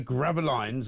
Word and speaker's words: Gravelines: Near Gravelines, I think you pronounce it, near Dunkirk.